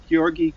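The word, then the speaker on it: György: Gyorgy, catch me about pronunciation. Gyorgy Kurtág. Am I close? Yeah, Gyorgy Kurtág.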